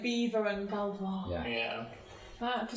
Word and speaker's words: Belvoir: English were like, no, we don't want to pronounce it the French way. It's like Beaver and Belvoir. Yeah. Yeah. For such a long time, I thought it was Belvoir Street.